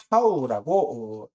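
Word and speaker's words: תו: 그래서 신은요, 신이라고 읽고, 하나는 쉰이라고 읽고, 나머지는 타오라고 읽습니다.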